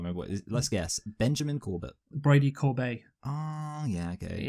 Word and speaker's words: Corbet: Benjamin Corbett. Brady Corbet. Oh, yeah, okay. It's pronounced Stephen Colbert. Corbet, by the way. It's a French pronunciation, which is interesting.